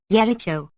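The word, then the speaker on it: Jericho: 1522 transferred into English the German J which has the sound of ior Y intending us to pronounce Jakob or Jakob yericho yemenites yob or High Hopes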